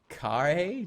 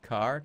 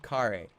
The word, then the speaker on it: Khare: It's pronounced Khare, not car. Khare. There's an accent on the gosh.